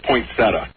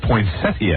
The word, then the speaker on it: poinsettia: Oh, it's a poinsetta. See, there's a popular school of songs. Says poinsettia. Either way is correct, according to the dictionary.